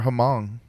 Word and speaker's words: Hmong: They're Hmong. Yeah, exactly. They're very. Aren't they hung. Hmong? They're very I hung. think the H is silent.